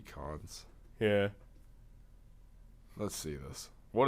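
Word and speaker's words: Kuntz: royals his name's rusty it's k k-u-n-t-z but it's pronounced rusty cons yeah let's see this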